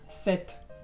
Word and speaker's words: cet: O cuando hay un enlace, por ejemplo, que queremos decir este avión, sería cet avion. Set. Y entonces la T se pronuncia.